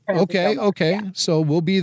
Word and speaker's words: Del Norte: Del Norte. They pronounce it Del Norte.